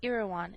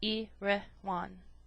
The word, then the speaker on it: Erewhon: to be understood that iroan is pronounced as a word of three syllables all short thus e rean preface to the second